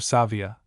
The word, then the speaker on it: savia: For though the Italian name may possibly remind its readers of sapienza, sapiens, there is the difference of a in the adjective savia, which is also accented on the first syllable.